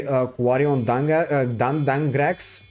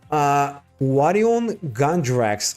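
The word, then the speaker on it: Quariongandrax: So now I'm gonna use 3 of my monsters to go for G Quarion Dangrax. And yeah, I pronounced that name completely wrong. Quarion Gandrax.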